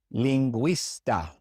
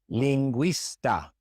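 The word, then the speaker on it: lingüista: When you see G-U-E or G-U-I with two dots above the U, it means we pronounce the U, as in bilingue, bilingue, linguista, linguista. In these two words, we pronounce the U because it has those two dots.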